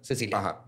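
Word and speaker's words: Cäzilia: casilia con dos puntitos en la pero se pronuncia Cecilia este Cecilia Siller en 1886 ella era 10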